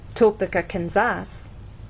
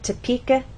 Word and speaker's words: Topeka: kin or Ken so we do not say topas the correct pronunciation is toeka Kansas get it exercise 2 listen to the